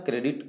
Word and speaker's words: corps: कोर का spelling लिखते हैं CORPS, बट पढ़ते हैं कोर, इसलिए ध्यान रहे सी वाले से, बाकी सभी गलत हो।